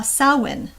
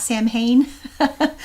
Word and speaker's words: Samhain: not calling it uh salwyn by the way it's not samhain though those are um uh pronounced with a w but um so why